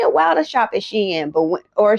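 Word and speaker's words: Shein: Sheen, but or Sheen, it depends on how you pronounce it. I call it Sheen because I watched the documentary and it was originally called Shien, but everybody call it Sheen because of the way that it's worded.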